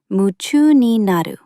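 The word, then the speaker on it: 夢中になる: In Japanese, you might hear yumchu ni naru, pronounced muchu ni naru.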